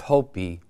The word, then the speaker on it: Hopi: The P, okay, which is interesting because the I is pronounced as an E.